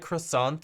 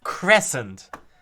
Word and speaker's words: Crescent: It sounded like croissant, so I must have pronounced it croissant. And the right thing is crescent.